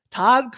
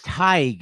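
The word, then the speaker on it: Tadhg: Tag from Ireland, $15. Thank you. Hello to Ireland. Yes, Yay. thank you for staying up late. That's Tig.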